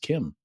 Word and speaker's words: CIEM: now, thanks to the interview we just did with Will Lin, I know that CIEM is pronounced Kim, which they also Or do.